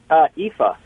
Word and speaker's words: Aoife: Well, Aoife. Aoife. Aoife. And you pronounce that Aoife? Yeah. Okay, cool. Irish name.